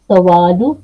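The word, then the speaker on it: سؤال: निकाह अल सवालु सवाल अरबी में क्या बोलते हैं? सुवाल और उर्दू में कहते हैं सवाल सवाल थोड़ी सी शेप हरूफ वही है जस्ट प्रोनाउंसिएशन के अंदर थोड़ा सा फर्क है हम सुआल को सवाल कर देते हैं शाबाश असफ सफ सफ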